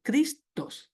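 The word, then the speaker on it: Χριστός: Parece una X, pero dice Cristos, no es una X, se pronuncia como una K.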